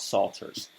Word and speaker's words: psalters: like to talk about salters that's spelled p s a l t e not s-a-l-t we're not talking about